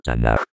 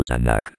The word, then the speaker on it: Tanaj: Es letra final en el acrónimo Tan. Y por ser última letra toma la forma de K final y se pronuncia suave como J, no como K. Por eso es tan y no tanc.